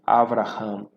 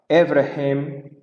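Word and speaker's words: אברהם: Então, por exemplo, aqui você poderia pronunciar de forma errada, como aqui você poderia falar Evrehem, né? Ou você poderia dizer Avrehem, com E aqui.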